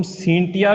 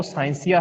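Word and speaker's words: scientia: Latin भाषा का जो शब्द हम सींटिया भी कह रहे हैं, आपके एनसीईआरटी बुक के अंदर सींटिया लिखा हुआ है, या फिर इसका जो प्रोनाउंसिएशन है वो साइंसिया है।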